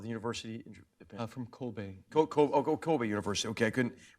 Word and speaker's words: Kobe: He has his doctorate in Japanese politics and diplomacy and history from, how do you pronounce the name of the university in Japan? From Kobe.